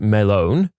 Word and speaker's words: Melon: Named him Walter Melon, pronounced Melone, snuck the watermelon into the bar and generally just passed it around and praised him for being a good melon.